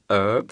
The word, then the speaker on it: herb: country who knows so they would say an herb yeah but you would still stick for the general thing a herb yeah but we all